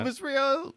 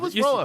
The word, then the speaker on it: Elvis Roa: I'm good on Elvis Rio. Oh, Roa. that. Elvis Roa. You said Rio.